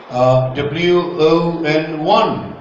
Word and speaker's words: won: But I used to pronounce I own scholarship. I won. Pronounce it. Won.